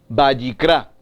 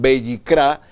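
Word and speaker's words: ויקרא: Entonces, entendemos que el libro de Levítico, en hebreo, su pronunciación, Vayikra, y significa y lo llamó, y llamó, y llamó. Muy interesante, entonces, Levítico, el libro de Levítico en español, en hebreo su pronunciación Vayikra, y significa y llamó.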